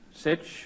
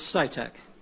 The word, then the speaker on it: Scitec: in pronouncing your name it's scitec scitec yes thank you oh you